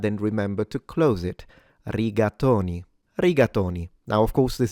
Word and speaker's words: rigatoni: So to pronounce this like a real Italian, you would say riatonyi. Ratatoni riatonyi. All right, let's uh dissect it a little bit. So the r of course is slightly trilled.